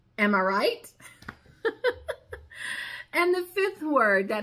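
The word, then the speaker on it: amirite: It is A-M-I-R-I-T-E, and it is pronounced. Am I right?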